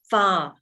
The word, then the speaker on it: pho: get a thing called pho broth which is pronounced by the vietnamese as far broth and it's um four